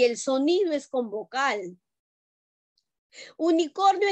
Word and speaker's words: unicorn: sonido es con vocal unicornio en inglés no se dice unicornio se dice unicorn y el sonido es una consonante no una vocal por eso dice el